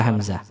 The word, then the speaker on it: hamzah: Banyak orang yang membaca huruf hamzah seperti orang membaca huruf A dalam bahasa Indonesia. Kalau huruf hamzah itu cara membacanya ke dalam tenggorokan. Jadi suaranya syiddah, suaranya ditekan. A, ya, ini suara hamzah.